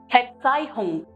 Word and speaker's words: Verzeihung: Verzeihung. Verzeihung, which means pardon me. And it's very clear to you, we in German take F pronunciation.